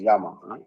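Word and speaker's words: llama: this particular animal gamma they say spell it as Double L A M A but actually they pronounce as Yama so the yamas they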